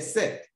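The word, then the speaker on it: cette: at it sex another set c e t t e this time around we have different spelling of the sets but the same pronunciation before a feminine singular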